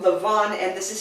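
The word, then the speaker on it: Lavan: this is spelled l-a-v-a-n you just kind of think of it like Lobby in Los Angeles and then v-a-n being the Vans okay the Vans okay but it's Lavon so here we have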